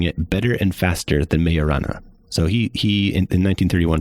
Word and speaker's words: Majorana: Those are firmians which are their own antiparticle and a nutrino is possibly a mayorana uh nutrino and it's spelled it's spelled majorana but uh it's Italian physicist who uh Fermy actually